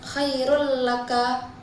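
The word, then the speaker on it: خَيْرٌ لَّكَ: Kemudian pada lafaz khairul laka itu terdapat hukum idgham bila ghunah karena tanwin bertemu huruf lam. Cara membacanya dengan memasukkan suara tanwin ke huruf lam tanpa dengung.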